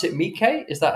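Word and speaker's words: Miike: Quentin Tarantino and Takeshi is you pronounce it Mike?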